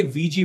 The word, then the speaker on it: Ouija: पहले है ये वीजी बोर्ड्स। इनकी स्पेलिंग होती है OUIJA, लेकिन प्रोनाउंस इन्हें VG किया जाता है।